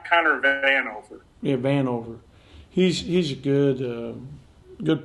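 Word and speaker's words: Vanover: i'm sorry it's like conor van anover yeah van over he's he's a good good player he shoots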